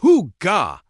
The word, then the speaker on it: hygge: First things first, how do you even pronounce Hygge? It's Hygge.